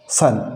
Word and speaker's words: son: ओ का उच्चारण कब, ए कब होगा, सन, SON, सन, सन यानी पुत्र। COME, कम, कम यानी आना। अब यहाँ पे इस ओ का उच्चारण क्या हो रहा है, ए हो रहा है, कम यानी ए।